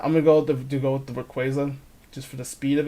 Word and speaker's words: Rayquaza: Rayquaza. Sounds like a Spanish word for like Raquel. Yeah, hey, Rayquaza, come here.